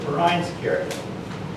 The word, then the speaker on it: Vereinskirche: purpose to reconstruct the Vereinskerke. And it's pronounced with an F, by the way, if you don't know German wording.